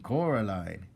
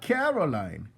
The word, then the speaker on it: Coraline: They kept saying Coraline, not Caroline. Not Caroline at all."